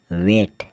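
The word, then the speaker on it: weight: बात करें डब्लू ई आई जी एच टी वेट वेट क्या होता है वजन फिर हम आगे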